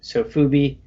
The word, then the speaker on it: sofubi: the know uh is the japanese kind of slang term for soft vinyl so they they would pronounce that as sofuto so they just shorten it to sofubi um so basically it's